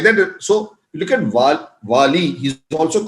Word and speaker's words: Vali: The word Vali, also his name is not only said as Vali, but also quite often pronounced as Bali.